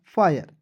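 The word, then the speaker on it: fire: और आई आर ई दोस्तों आएगा। उसका उच्चारण आई के रूप में करते हैं। क्या हो जाएगा? फायर। एफ आई आर ई फायर हो जाएगा।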